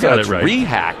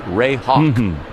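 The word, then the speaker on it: Rehak: We've always rehack cuz it's re e h a k but you looked it up and it's Ray Hawk.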